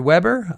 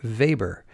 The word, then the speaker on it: Weber: The Weber pronunciation is the Americanized style, the Americanized version of his name, and Weber is the more European pronunciation.